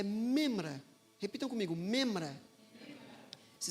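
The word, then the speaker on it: מימרא: era Logos correspondente no hebraico para Logos é memra repitam comigo memra memra se escreve m m r membra tá não é membra é membra nós temos várias membras da igreja aqui mas é memra Ok é muito interessante porque em uma antiga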